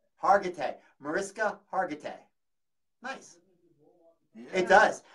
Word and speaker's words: Mariska Hargitay: Marissa Hargitay. Mariska Hargitay. Hargitay. Mariska Hargitay.